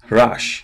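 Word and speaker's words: רש: following line, vocalized with a patach. They're pronounced as rash, and rash means poor.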